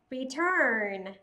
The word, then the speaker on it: return: Trong câu số 1, từ đầu tiên đó là return. Return. Trọng âm rơi vào âm tiết thứ hai, âm UR sẽ được viên âm là ơ dài.